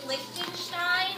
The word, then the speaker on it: Lichtenstein: And we're going to be learning about a specific artist named Roy Lichtenstein. I know that name is kind of hard to say, so I spelled it out phonetically. So it's Lichtenstein. Roy Lichtenstein.